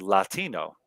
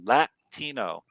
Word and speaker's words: Latino: For example, the word Latino is definitely pronounceable in English as Latino. When I lived in Arizona in the Southwest, many people would say with that glottal stop too, Latino, and would say words